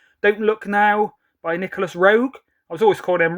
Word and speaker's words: Roeg: from um walk about did pronounce his name Nicholas Rogue so at least I know now because I was calling him Rowe eight for silver so